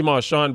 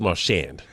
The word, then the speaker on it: Marchand: Marchand or Marchon? I say Marchon but uh Goldie says Marchand. Okay, so that means Goldie knows because he's asked him how he wants it to be pronounced.